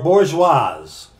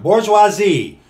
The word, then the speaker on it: bourgeoisie: You're going to hear terms when we're going through this, bourgeoisie or bourgeoise, which is a French term, bourgeoisie, and proletariat, and communist. What is that in our jargon? Bourgeoisie or bourgeoise is a term for the middle class.